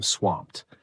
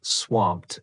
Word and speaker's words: swamped: Instead of saying, "I'm really busy," you can say, "I'm swamped." Pay attention to pronunciation. Swamped ends with a soft t sound.